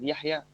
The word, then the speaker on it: Yahya: Like I have I have 3 months here on Cambly, and when I say to the people my name is Yahya, they can't speak Yahya. They call me here just Yahya.